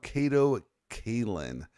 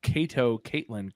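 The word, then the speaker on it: Kato Kaelin: of OJ trial musings Memories the entrance of Kato Kaitlyn my man did I say his name correctly that time you did you did say Kato Caitlyn correctly and not Kato that's gonna be a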